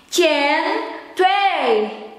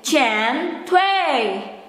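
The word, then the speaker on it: 煎堆: Chen Tui. Chen Tui. Chen Tui. Because in China or in Chinese, the J is pronounced as che, che, and the D is pronounced as T.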